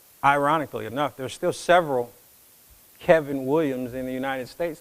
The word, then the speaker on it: Kavin: now like renee said my name is kevin williams with an a it's pronounced as if that a were an e now mama was in